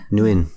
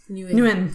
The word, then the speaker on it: Nguyen: Nguyen. Nguyen. Okay. It's much easier than how I was trying to pronounce it.